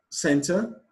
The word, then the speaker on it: center: Question 42, center, people, setting, concern. Center, the stress is placed on the first syllable.